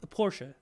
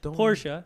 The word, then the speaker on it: Porsche: Porsche. Notice how I say not Porsche. Porsche. Say it right.